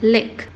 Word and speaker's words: lick: A primeira palavra, cuja transcrição do I é um I maiúsculo, é pronunciada lick.